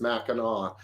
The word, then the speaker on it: Mackinac: yeah and that one the the sea is silent it's a Michigan thing it's Mackinac but no yeah okay